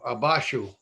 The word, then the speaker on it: abajo: Dejar, we pronounce it deshar. Abajo, abashu.